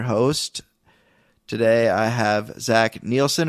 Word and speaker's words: Nielsen: Today I have Zach Nielsen. Or is it Nelson or Neielson? Neielson. Neielson. Okay, good. I said it right the first time.